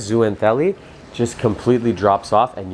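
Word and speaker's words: zooxanthellae: color that zoo and i always pronounce this wrong zooentelli i think it is zoo anthelli just completely drops off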